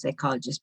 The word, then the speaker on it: psychologist: So you put the accent on the second. You can listen to the recording later and see where it was, but the correct pronunciation is psychologist.